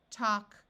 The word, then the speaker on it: talk: in Al K in all of these words the a will take on its broad sound of a so we have walk talk chalk and stalk in all these words the a has its broad sound of a and the L is silent in this column I have